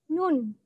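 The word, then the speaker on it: 눈: ada kawasan Anin lagi nah konsonan itu kalau berada di awal ataupun di akhir suku kata tetap dibaca n ya jadi tulisan ini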